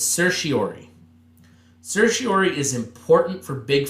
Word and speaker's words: certiorari: and I'm not going to ask you to pronounce it, but it's certiorari.